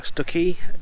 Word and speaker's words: Stiffkey: So we're now near Stiffkey, or Stuckey, as apparently it's maybe pronounced here.